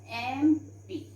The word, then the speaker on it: MP: is starting with M, but what is the pronunciation? It is MP. Okay, so here we write an MP, because children, though it is starting with consonant letter, but the sound we are having here is vowel sound, so we put an MP.